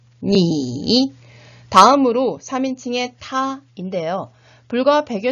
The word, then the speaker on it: 你: 2인칭의 너, 니, 3인칭의 그 또는 그녀는 발음이 같았었죠.